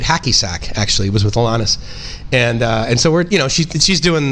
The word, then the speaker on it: Alanis: And I think people were saying it like Annalise, right? Like it's like, no, it's Alanis Morissette.